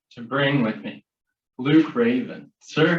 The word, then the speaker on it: Reyvn: my name is luke raven so it's l u k e space r e y v n so it's not spelled